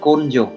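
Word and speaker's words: 根性: Cách đọc của nó sẽ là côn dồ.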